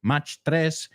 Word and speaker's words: Mach: I I know in Spanish you say much. Mach, right? The speed. So we say mach. I guess that's might be the German pronunciation.